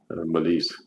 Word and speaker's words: Mélisse: there's no a because This is the way you would say her name in French. Malise.